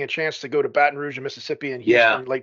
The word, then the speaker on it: Baton Rouge: going on we're doing the M Mambo in Baton Rouge and there's like I think a 75% chance of rain that morning and that's how you say it Joe Baton Rouge yeah yeah yeah well done the pronunciation what is this Marty girl thing I